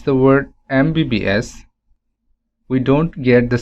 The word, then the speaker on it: MBBS: to use n here similarly mbbs when we pronounce the word mbbs we don't get the sound of m rather